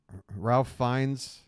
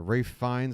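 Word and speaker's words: Ralph Fiennes: even the burger that Ralph fines or Rafe fines however you want to say his name I think it's Rafe sorry um the burger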